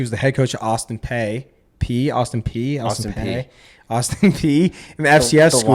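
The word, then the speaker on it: Austin Peay: He was the head coach at Austin P in the FCS the school. Y is silent.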